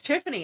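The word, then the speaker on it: Tyfane: T YF A N E. And I was like, it's Tiffany.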